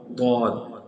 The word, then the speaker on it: ضاد: This is ضاد ضاد ضاد. How to read it, how to pronounce it, ضاد ضاد. Always hit right side of the tongue with the right upper molars root.